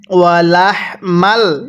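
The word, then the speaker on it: وَلَحْمَ: লাম হা জবর লাহ আমরা অনেকেই এই হাগুলো উচ্চারণ করার সময় বড় একটা ভুল করি যে এই হাগুলো এবং গোল হা গুলো এই দুই হার উচ্চারণ একই করে ফেলি স্মরণ রাখবেন এরকম হাগুলো উচ্চারণ করার সময় মুখ দিয়ে হালকা বাতাস বের করতে হবে। আর গোল হাগুলো উচ্চারণ করার সময় মুখ দিয়ে হালকা আওয়াজ করতে হবে। তাহলে কিভাবে পড়ব? ওয়ালাহমাল।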